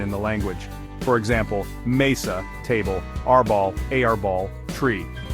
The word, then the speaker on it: mesa: the language for example Mesa table rball a ball tree notice how the stress Falls naturally on the second to last syllable two words ending in